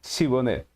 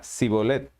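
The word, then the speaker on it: Shibboleth: Efraín Entonces él decía ahora pues di chibonet y él decía sibolette porque no podía pronunciar correctamente Entonces le echaban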